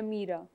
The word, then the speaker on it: Nameera: मुझे पहले तो बताएं आपके नाम की प्रोनाउंसिएशन क्या है? नमीरा।